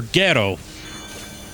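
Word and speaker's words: Gero: uh you know Dr Giro of course yeah uh they went with the Japanese pronunciation of his name Dr ghetto I didn't know that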